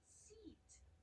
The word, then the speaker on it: seat: 좌석을 이야기할 때도 보통 have a seat, seat, S-E-A-T 장모음입니다. 입술 옆으로 길게 Seat.